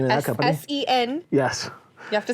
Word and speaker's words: Sen: So, and that's Sen Technologies. Sen Technologies is the name of that company. S-E-N.